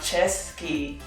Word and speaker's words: Cesky: from the czech republic the czech terrier pronounced chesky is the only brief